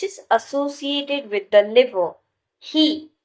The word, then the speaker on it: He: He, pronounced like her with a yawn, which is associated with the heart.